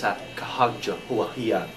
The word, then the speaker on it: Sacagawea: he was often chasing Sacagawea. Actually, I happen to know the correct pronunciation. It's Sacagawea.